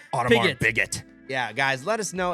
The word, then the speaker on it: Audemars Piguet: It's the new Audemars Piguet Swatch collab.